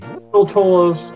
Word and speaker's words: Skulltula: Skulltulas, I don't know.